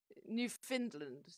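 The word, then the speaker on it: Newfoundland: unethical Canada Goose coats you have to hear a Canadian pronounce it New Finland New Finland okay I'm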